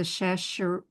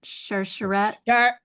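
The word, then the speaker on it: Sharsheret: Shash. How do you pronounce it? Share Sheret Sheret.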